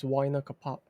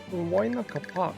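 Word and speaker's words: Huayna Capac: I could have sworn they pronounced her name as Waina Kapak. Waina Kapak. Ah, okay. Yeah, I guess that's just the Japanese like pronunciation being closer to the original way the name was meant to be pronounced, if anything.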